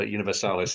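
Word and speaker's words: Universalis: uh Europa univers Universal you pronounce it universales Europa universales is absolutely right what on so end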